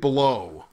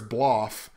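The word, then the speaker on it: Blough: That is David Blow. And I know that's not how you pronounce his last name. I'm pretty sure it's Bloff or Blah or Blau or something.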